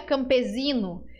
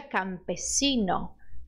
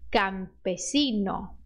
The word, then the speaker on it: campesino: mas se pronuncia cassa por isso todas as letras s do espanhol você vai pronunciar com som de s independente do que você